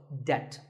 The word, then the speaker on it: debt: might find yourself in debt the B is silent in this word so debt if a debt is